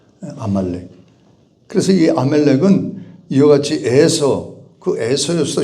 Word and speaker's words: 아말렉: 그래서 아멜렉 이름이 아말렉이죠. 근데 발음이 자꾸 아멜렉이 아말렉.